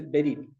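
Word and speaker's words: בְּרִית: Y hay una palabra hebrea que se dice o se escribe berit. La fonética me puso así que dice berit.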